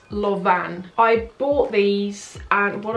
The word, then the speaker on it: Lanvin: It looks like Lanvin, but it's not. It's Lauvan.